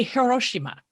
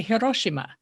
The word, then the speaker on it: Hiroshima: will say kamakura and or let's say hiroshima americans will say hiroshima because we're used to stressing the second to last syllable but the japanese will say hiroshima and i realized in